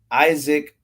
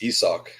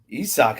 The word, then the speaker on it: Isak: It's not Isaac? It's Isak. Isak, I did not know that.